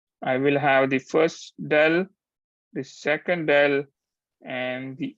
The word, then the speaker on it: del: and then this uh other uh symbol is dell. That's how you pronounce it.